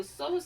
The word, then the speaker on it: psoas: There's also the psoas sign, which is spelled P-S-O-A-S.